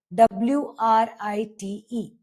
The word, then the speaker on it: write: When W comes before R, it usually becomes silent. For example, right. W R I T E. We will not pronounce this at right. We'll pronounce this as write. Write your name or wrist.